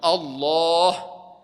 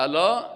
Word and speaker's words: الله: بعضی کسا الله را صحیح تلفظ نمیکنن، ما شما نام الله را باید بگیم الله. بعضی کسا که میگه الا، این معنای نمازش غلط میشه، نمازش غلط است.